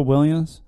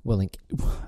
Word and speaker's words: Willink: Jocko Williams. Willink.